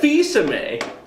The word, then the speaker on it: Fils-Aimé: what, I mentioned It's that- Fils-Aimé.